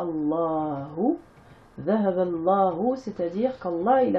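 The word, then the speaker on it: اللهُ: Dhahaba Allahu, là vous avez le alif qui ne se prononce pas, Allahu.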